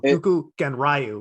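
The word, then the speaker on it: Dokuganryu: What is Dokugaru? I'm sure I'm saying it wrong. Doku Genryu.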